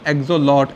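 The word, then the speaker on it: axolotl: Salamander में होता है बेटा एक्सोलॉट, एल साइलेंट है बाद वाला, लार्वा।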